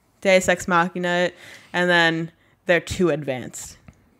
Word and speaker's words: deus ex machina: do what is it do sex machina i think that's it deus ex deus that's thank you it's spelt deuce though deus ex machina and then they're too